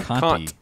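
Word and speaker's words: Conte: Is that how you pronounce his last name? Excuse me, sir? Kant. C-O-N-T-E. Kant. Conti.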